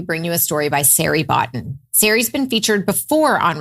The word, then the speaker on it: Sari Botton: Sari Botton sounds like Larry Cotton.